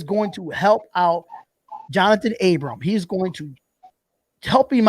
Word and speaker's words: Abram: be the leader when it comes to corners abra i got the abram i'm sorry abram i'm sorry it's abram people say i get his name wrong all